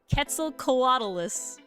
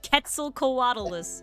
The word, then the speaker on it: Quetzalcoatlus: Quetzalcoatlus. Quetzalcoatl. Quetzalcoatl. It's not there's no W. Quetzalcoatlus. Quetzal. Quetzalcoatlus. There you go. Because it's Quetzalcoatl, the god. Quetzalcoatlus.